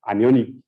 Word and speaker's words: anion: either be casion uh ion exchange resins or anionic ion exchange resins I know my um my